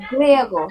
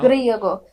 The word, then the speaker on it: griego: Grego, and for female is Grega. Yes, you are right. Griego and griega. Griego. Okay. Now, Griego. yes. If there is only one R, so I pronounce Griego.